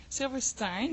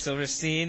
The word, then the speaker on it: Silverstein: No, I know already because like in Belgium I messed up and I said Silverstein Yeah. because like it's it's a German word. So we Over in pronounce it- Europe, that's the only place we let people get away with that. If they say it here, if they're like, yeah, Silverstein, we're like, hey, no, it's Silverstein.